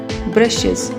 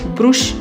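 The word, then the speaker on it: brush: boxes फक्सेस wishes ब्रश ब्रशेस ब्रश नहीं ब्रश यहां ओ की शॉर्ट वोवेल साउंड है ब्रश ब्रशेस टिश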